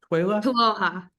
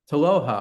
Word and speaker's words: TWLOHA: And so, yeah, a little bit about TWLOHA. That's so cool. And what's the abbreviation? What is TWLOHA? TWLOHA. TWLOHA.